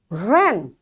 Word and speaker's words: wren: this W likewise wrong ren it's it's a beautiful word ren so it's written with W but it's uttered with R.